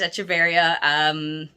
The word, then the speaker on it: Echeveria: Mine is Echeveria. And I know everyone will say that differently, but I've been yelled at by multiple plant friends that that's how you say it.